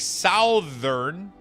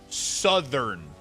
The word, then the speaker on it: southern: ern northern makes sense south if you have e r n you would think it would make southern but no it becomes southern.